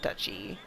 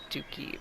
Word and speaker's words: duchy: the dookie isn't it is it Dutchy they said duchy I always thought it was like dookie maybe you can't count